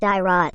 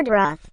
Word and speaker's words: Dyrroth: We don't know if it should be pronounced as Diroth or Doroth, but we will be using both pronunciation during this boot camp.